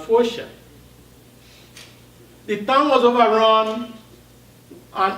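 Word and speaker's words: Foca: The book is set in a town called Focia, spelled F-O-C-A, but pronounced Focia.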